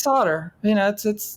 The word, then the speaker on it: solder: It's solder. Solder. It's always been solder in America. I don't know why the British love to.